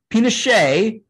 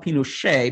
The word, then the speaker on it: Pinochet: overthrown and uh augusto pinochet um who whose name is pronounced in french even though he was even though he was